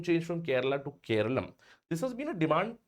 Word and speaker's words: Keralam: So from now on it'll be called Keralum.